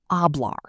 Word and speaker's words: hablar: In Spanish, the letter H is always completely silent.